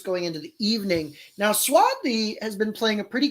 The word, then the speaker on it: Swati: Tori and Swati are is it Swathi? It's spelled Swati, but they all seem to be saying Swathi. I think it's Swathi. I think so too.